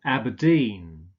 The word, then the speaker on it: Aberdeen: not Chicago Chicago Edinburgh Inverness stress on the last syllable and Aberdeen okay let's look at a